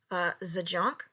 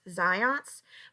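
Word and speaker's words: Zajonc: If you had any confusion on how to pronounce that name, it is in fact Zions, but I would not blame you if you pronounced it Zajunk, because that is just a good time all around. Right?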